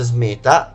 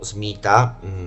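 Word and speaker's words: Smeeta: Con Charm lo Smeta Kavat, quindi è una mod perfetta, cioè solo per lo Smeta, ogni 27 secondi il Kavat Smeta o Smita, dipende come lo pronunciate voi, ha il 40% di probabilità di conferire buona fortuna al suo padrone.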